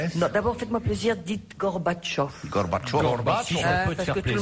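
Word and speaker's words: Gorbatchev: Non d'abord faites-moi plaisir dites Gorbatchov. Gorbach parce que tout le monde le dit maintenant, tout le monde prononce bien.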